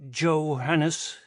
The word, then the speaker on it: Johannes: Excuse me, Johannes. The butler pronounced the name with an English J incorrectly. Kepler sighed. Think of it as a Y, Johannes.